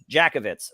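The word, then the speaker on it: Jankowicz: to say something because you know this nina jakowicz is that how you say your last name jackowitz am i saying it right jakovitz right i thought it was jack actually there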